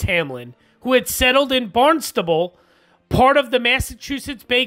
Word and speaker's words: Barnstable: i'm sure i'm gonna get butchered because i know it's i mean it's spelled barn stable but i think it's barnstable or barnstable uh massachusetts but i'm sure